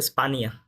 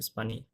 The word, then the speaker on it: España: ও, এটা কিন্তু হচ্ছে স্পানিয়া। আচ্ছা, España. হ্যাঁ, এ নিয়ে এটা এইভাবে উচ্চারণ হয়, স্পানিয়া।